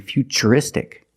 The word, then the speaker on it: futuristic: What's the pronunciation of T? That's right, it's ch, because we see T-U-R-E, we pronounce the T as ch. And we see T-U-R-I in futuristic. Again, the T is pronounced with the ch sound.